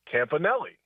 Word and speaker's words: Campanelli: And the Packers pronunciation on their Packers website was Campanelli.